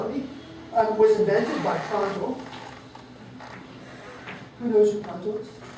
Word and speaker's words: Prandtl: everyone to yell at me, was invented by Prandtl. Who knows who Prandtl is? Who's ever heard the word Prandtl?